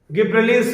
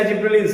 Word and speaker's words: gibberellins: गिब्रेलिन्स या जिब्रेलिन्स, आप जो प्रोनाउंस करें, जिब्रेलिन्स, यही वो हार्मोन है जो पार्थेनोकार्पी कॉज करता है।